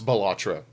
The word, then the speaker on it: Balatro: year also so did batro right so he was like going through the category and he couldn't even pronounce balatro he called it batro okay let's talk about